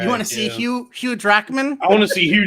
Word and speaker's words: Jackman: You want to see Hugh Jackman? I want to see Hugh Jackman. I want to see Wolverine with some. Or as my dad famously pronounces it, Jack Human.